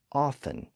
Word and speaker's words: often: now in most dialects the T sound also disappeared in the middle of a word when it followed an F sound like in the words often and soften so again those words are spelled with a t today even though it's usually silent the history of often